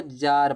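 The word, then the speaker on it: tsar: इसको जार पढ़ा जाता है। जार में टी साइलेंट होता है।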